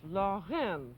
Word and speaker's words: Lorraine: And it's pronounced in the French manner as though you were saying law, and then clear your throat, and then say the letter N. So it's Lorraine, and that's the way to pronounce it.